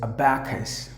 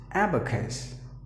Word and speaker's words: abacus: Usually the ESL speakers would pronounce the word as abacus, which is incorrect. But the right way to pronounce the word is abacus.